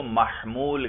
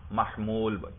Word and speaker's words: محمول: اور جو خبر ہے منطق میں اس کو محمول کہتے ہیں. کیا کہتے ہیں؟ میم ہا میم واو لام، محمول.